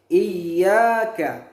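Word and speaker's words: إياك: pada lafal Iya Kak ada tasdid pada huruf ia Nah inilah yang disebut dengan number cara membacanya itu agak ditekan Iyakah sehingga sempurna tasbit yang ada pada Iyakah bukan ia Iyakah tapi Iyakah harus ditekan lebih keras sehingga dia benar-benar bertasydid selanjutnya ia k ia ke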